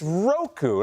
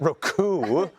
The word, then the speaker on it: Roku: of sauce or something it's it's it's Roku not Roku say on Roku r